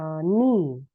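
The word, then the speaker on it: knee: Gitu ya, seperti misalnya ni, k n e e. Nah, huruf K itu tertulis tapi tidak dibunyikan, gitu ya.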